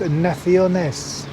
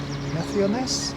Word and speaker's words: Naciones: Parque de las Naciones. Naciones? It's 4 syllables. Naciones. No, Naciones. Naciones. That's 4 syllables, isn't it?